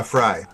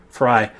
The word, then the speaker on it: Frey: is like Frey is is how do you pronounce his name? Frey or Fry? Uh Fry. Fry.